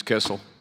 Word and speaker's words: Kissel: All right, Ms. Kissel. That rhymes with missile.